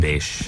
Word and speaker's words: Basche: Basche.